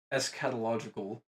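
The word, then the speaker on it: eschatological: So it's escatological.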